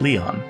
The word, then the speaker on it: Lion: the heck were you it's written as but pronounced Leon oh Leon I guess it is a bit